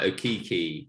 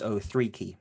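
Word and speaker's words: Okeke: you've got people like Okiki getting a lot of minutes. You've got Ken Birch, who's also... You got his name wrong. It's 03 key. It's 03 key, but carry on.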